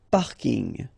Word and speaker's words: parking: So I know it's coming from English, but still you should pronounce it the French way.